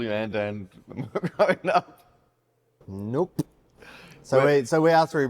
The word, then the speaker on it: Anand: Don't say it wrong. They say it wrong enough without you confusing them. It's Anand. Thank you.